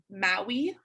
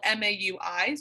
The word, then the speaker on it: Maui: a brand it's called maui maui like moana yeah like moana like maui from moana so it's spelled m-a-u-i's i think it's pronounced